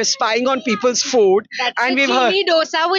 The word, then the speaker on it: Gini: नो श अ गुज्जू सो spell जीनी बट its pronounce चीनी या कैन यू शो